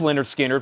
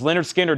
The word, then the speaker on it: Lynyrd Skynyrd: a buy now Kansas was 84.99 Lynyrd Skynyrd pronounced Leonard Skynyrd once again new and sealed on splatter vinyl this is Leonard Skinner doing pronounced live their first album doing it